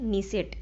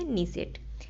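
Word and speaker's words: Knesset: नीसेट, आपको याद रखना है, ठीक है। के इसमें साइलेंट रहता है, इसलिए क्या पढ़ते हैं इसे? नीसेट।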